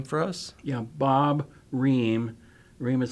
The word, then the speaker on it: Roehm: Yeah, Bob Roehm. Roehm is spelled R-O-E-H-M.